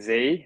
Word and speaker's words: Sze: um yes hi everyone my name is z um not many people know how to pronounce my surname so there you go um